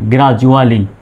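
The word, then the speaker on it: gradually: ইউ আছে, সুতরাং ডির উচ্চারণ জর মতো। জি আর এ গ্রা, ডি ইউ জু, এ ডাবল এল ওয়াই আলি, গ্রাজুয়ালি।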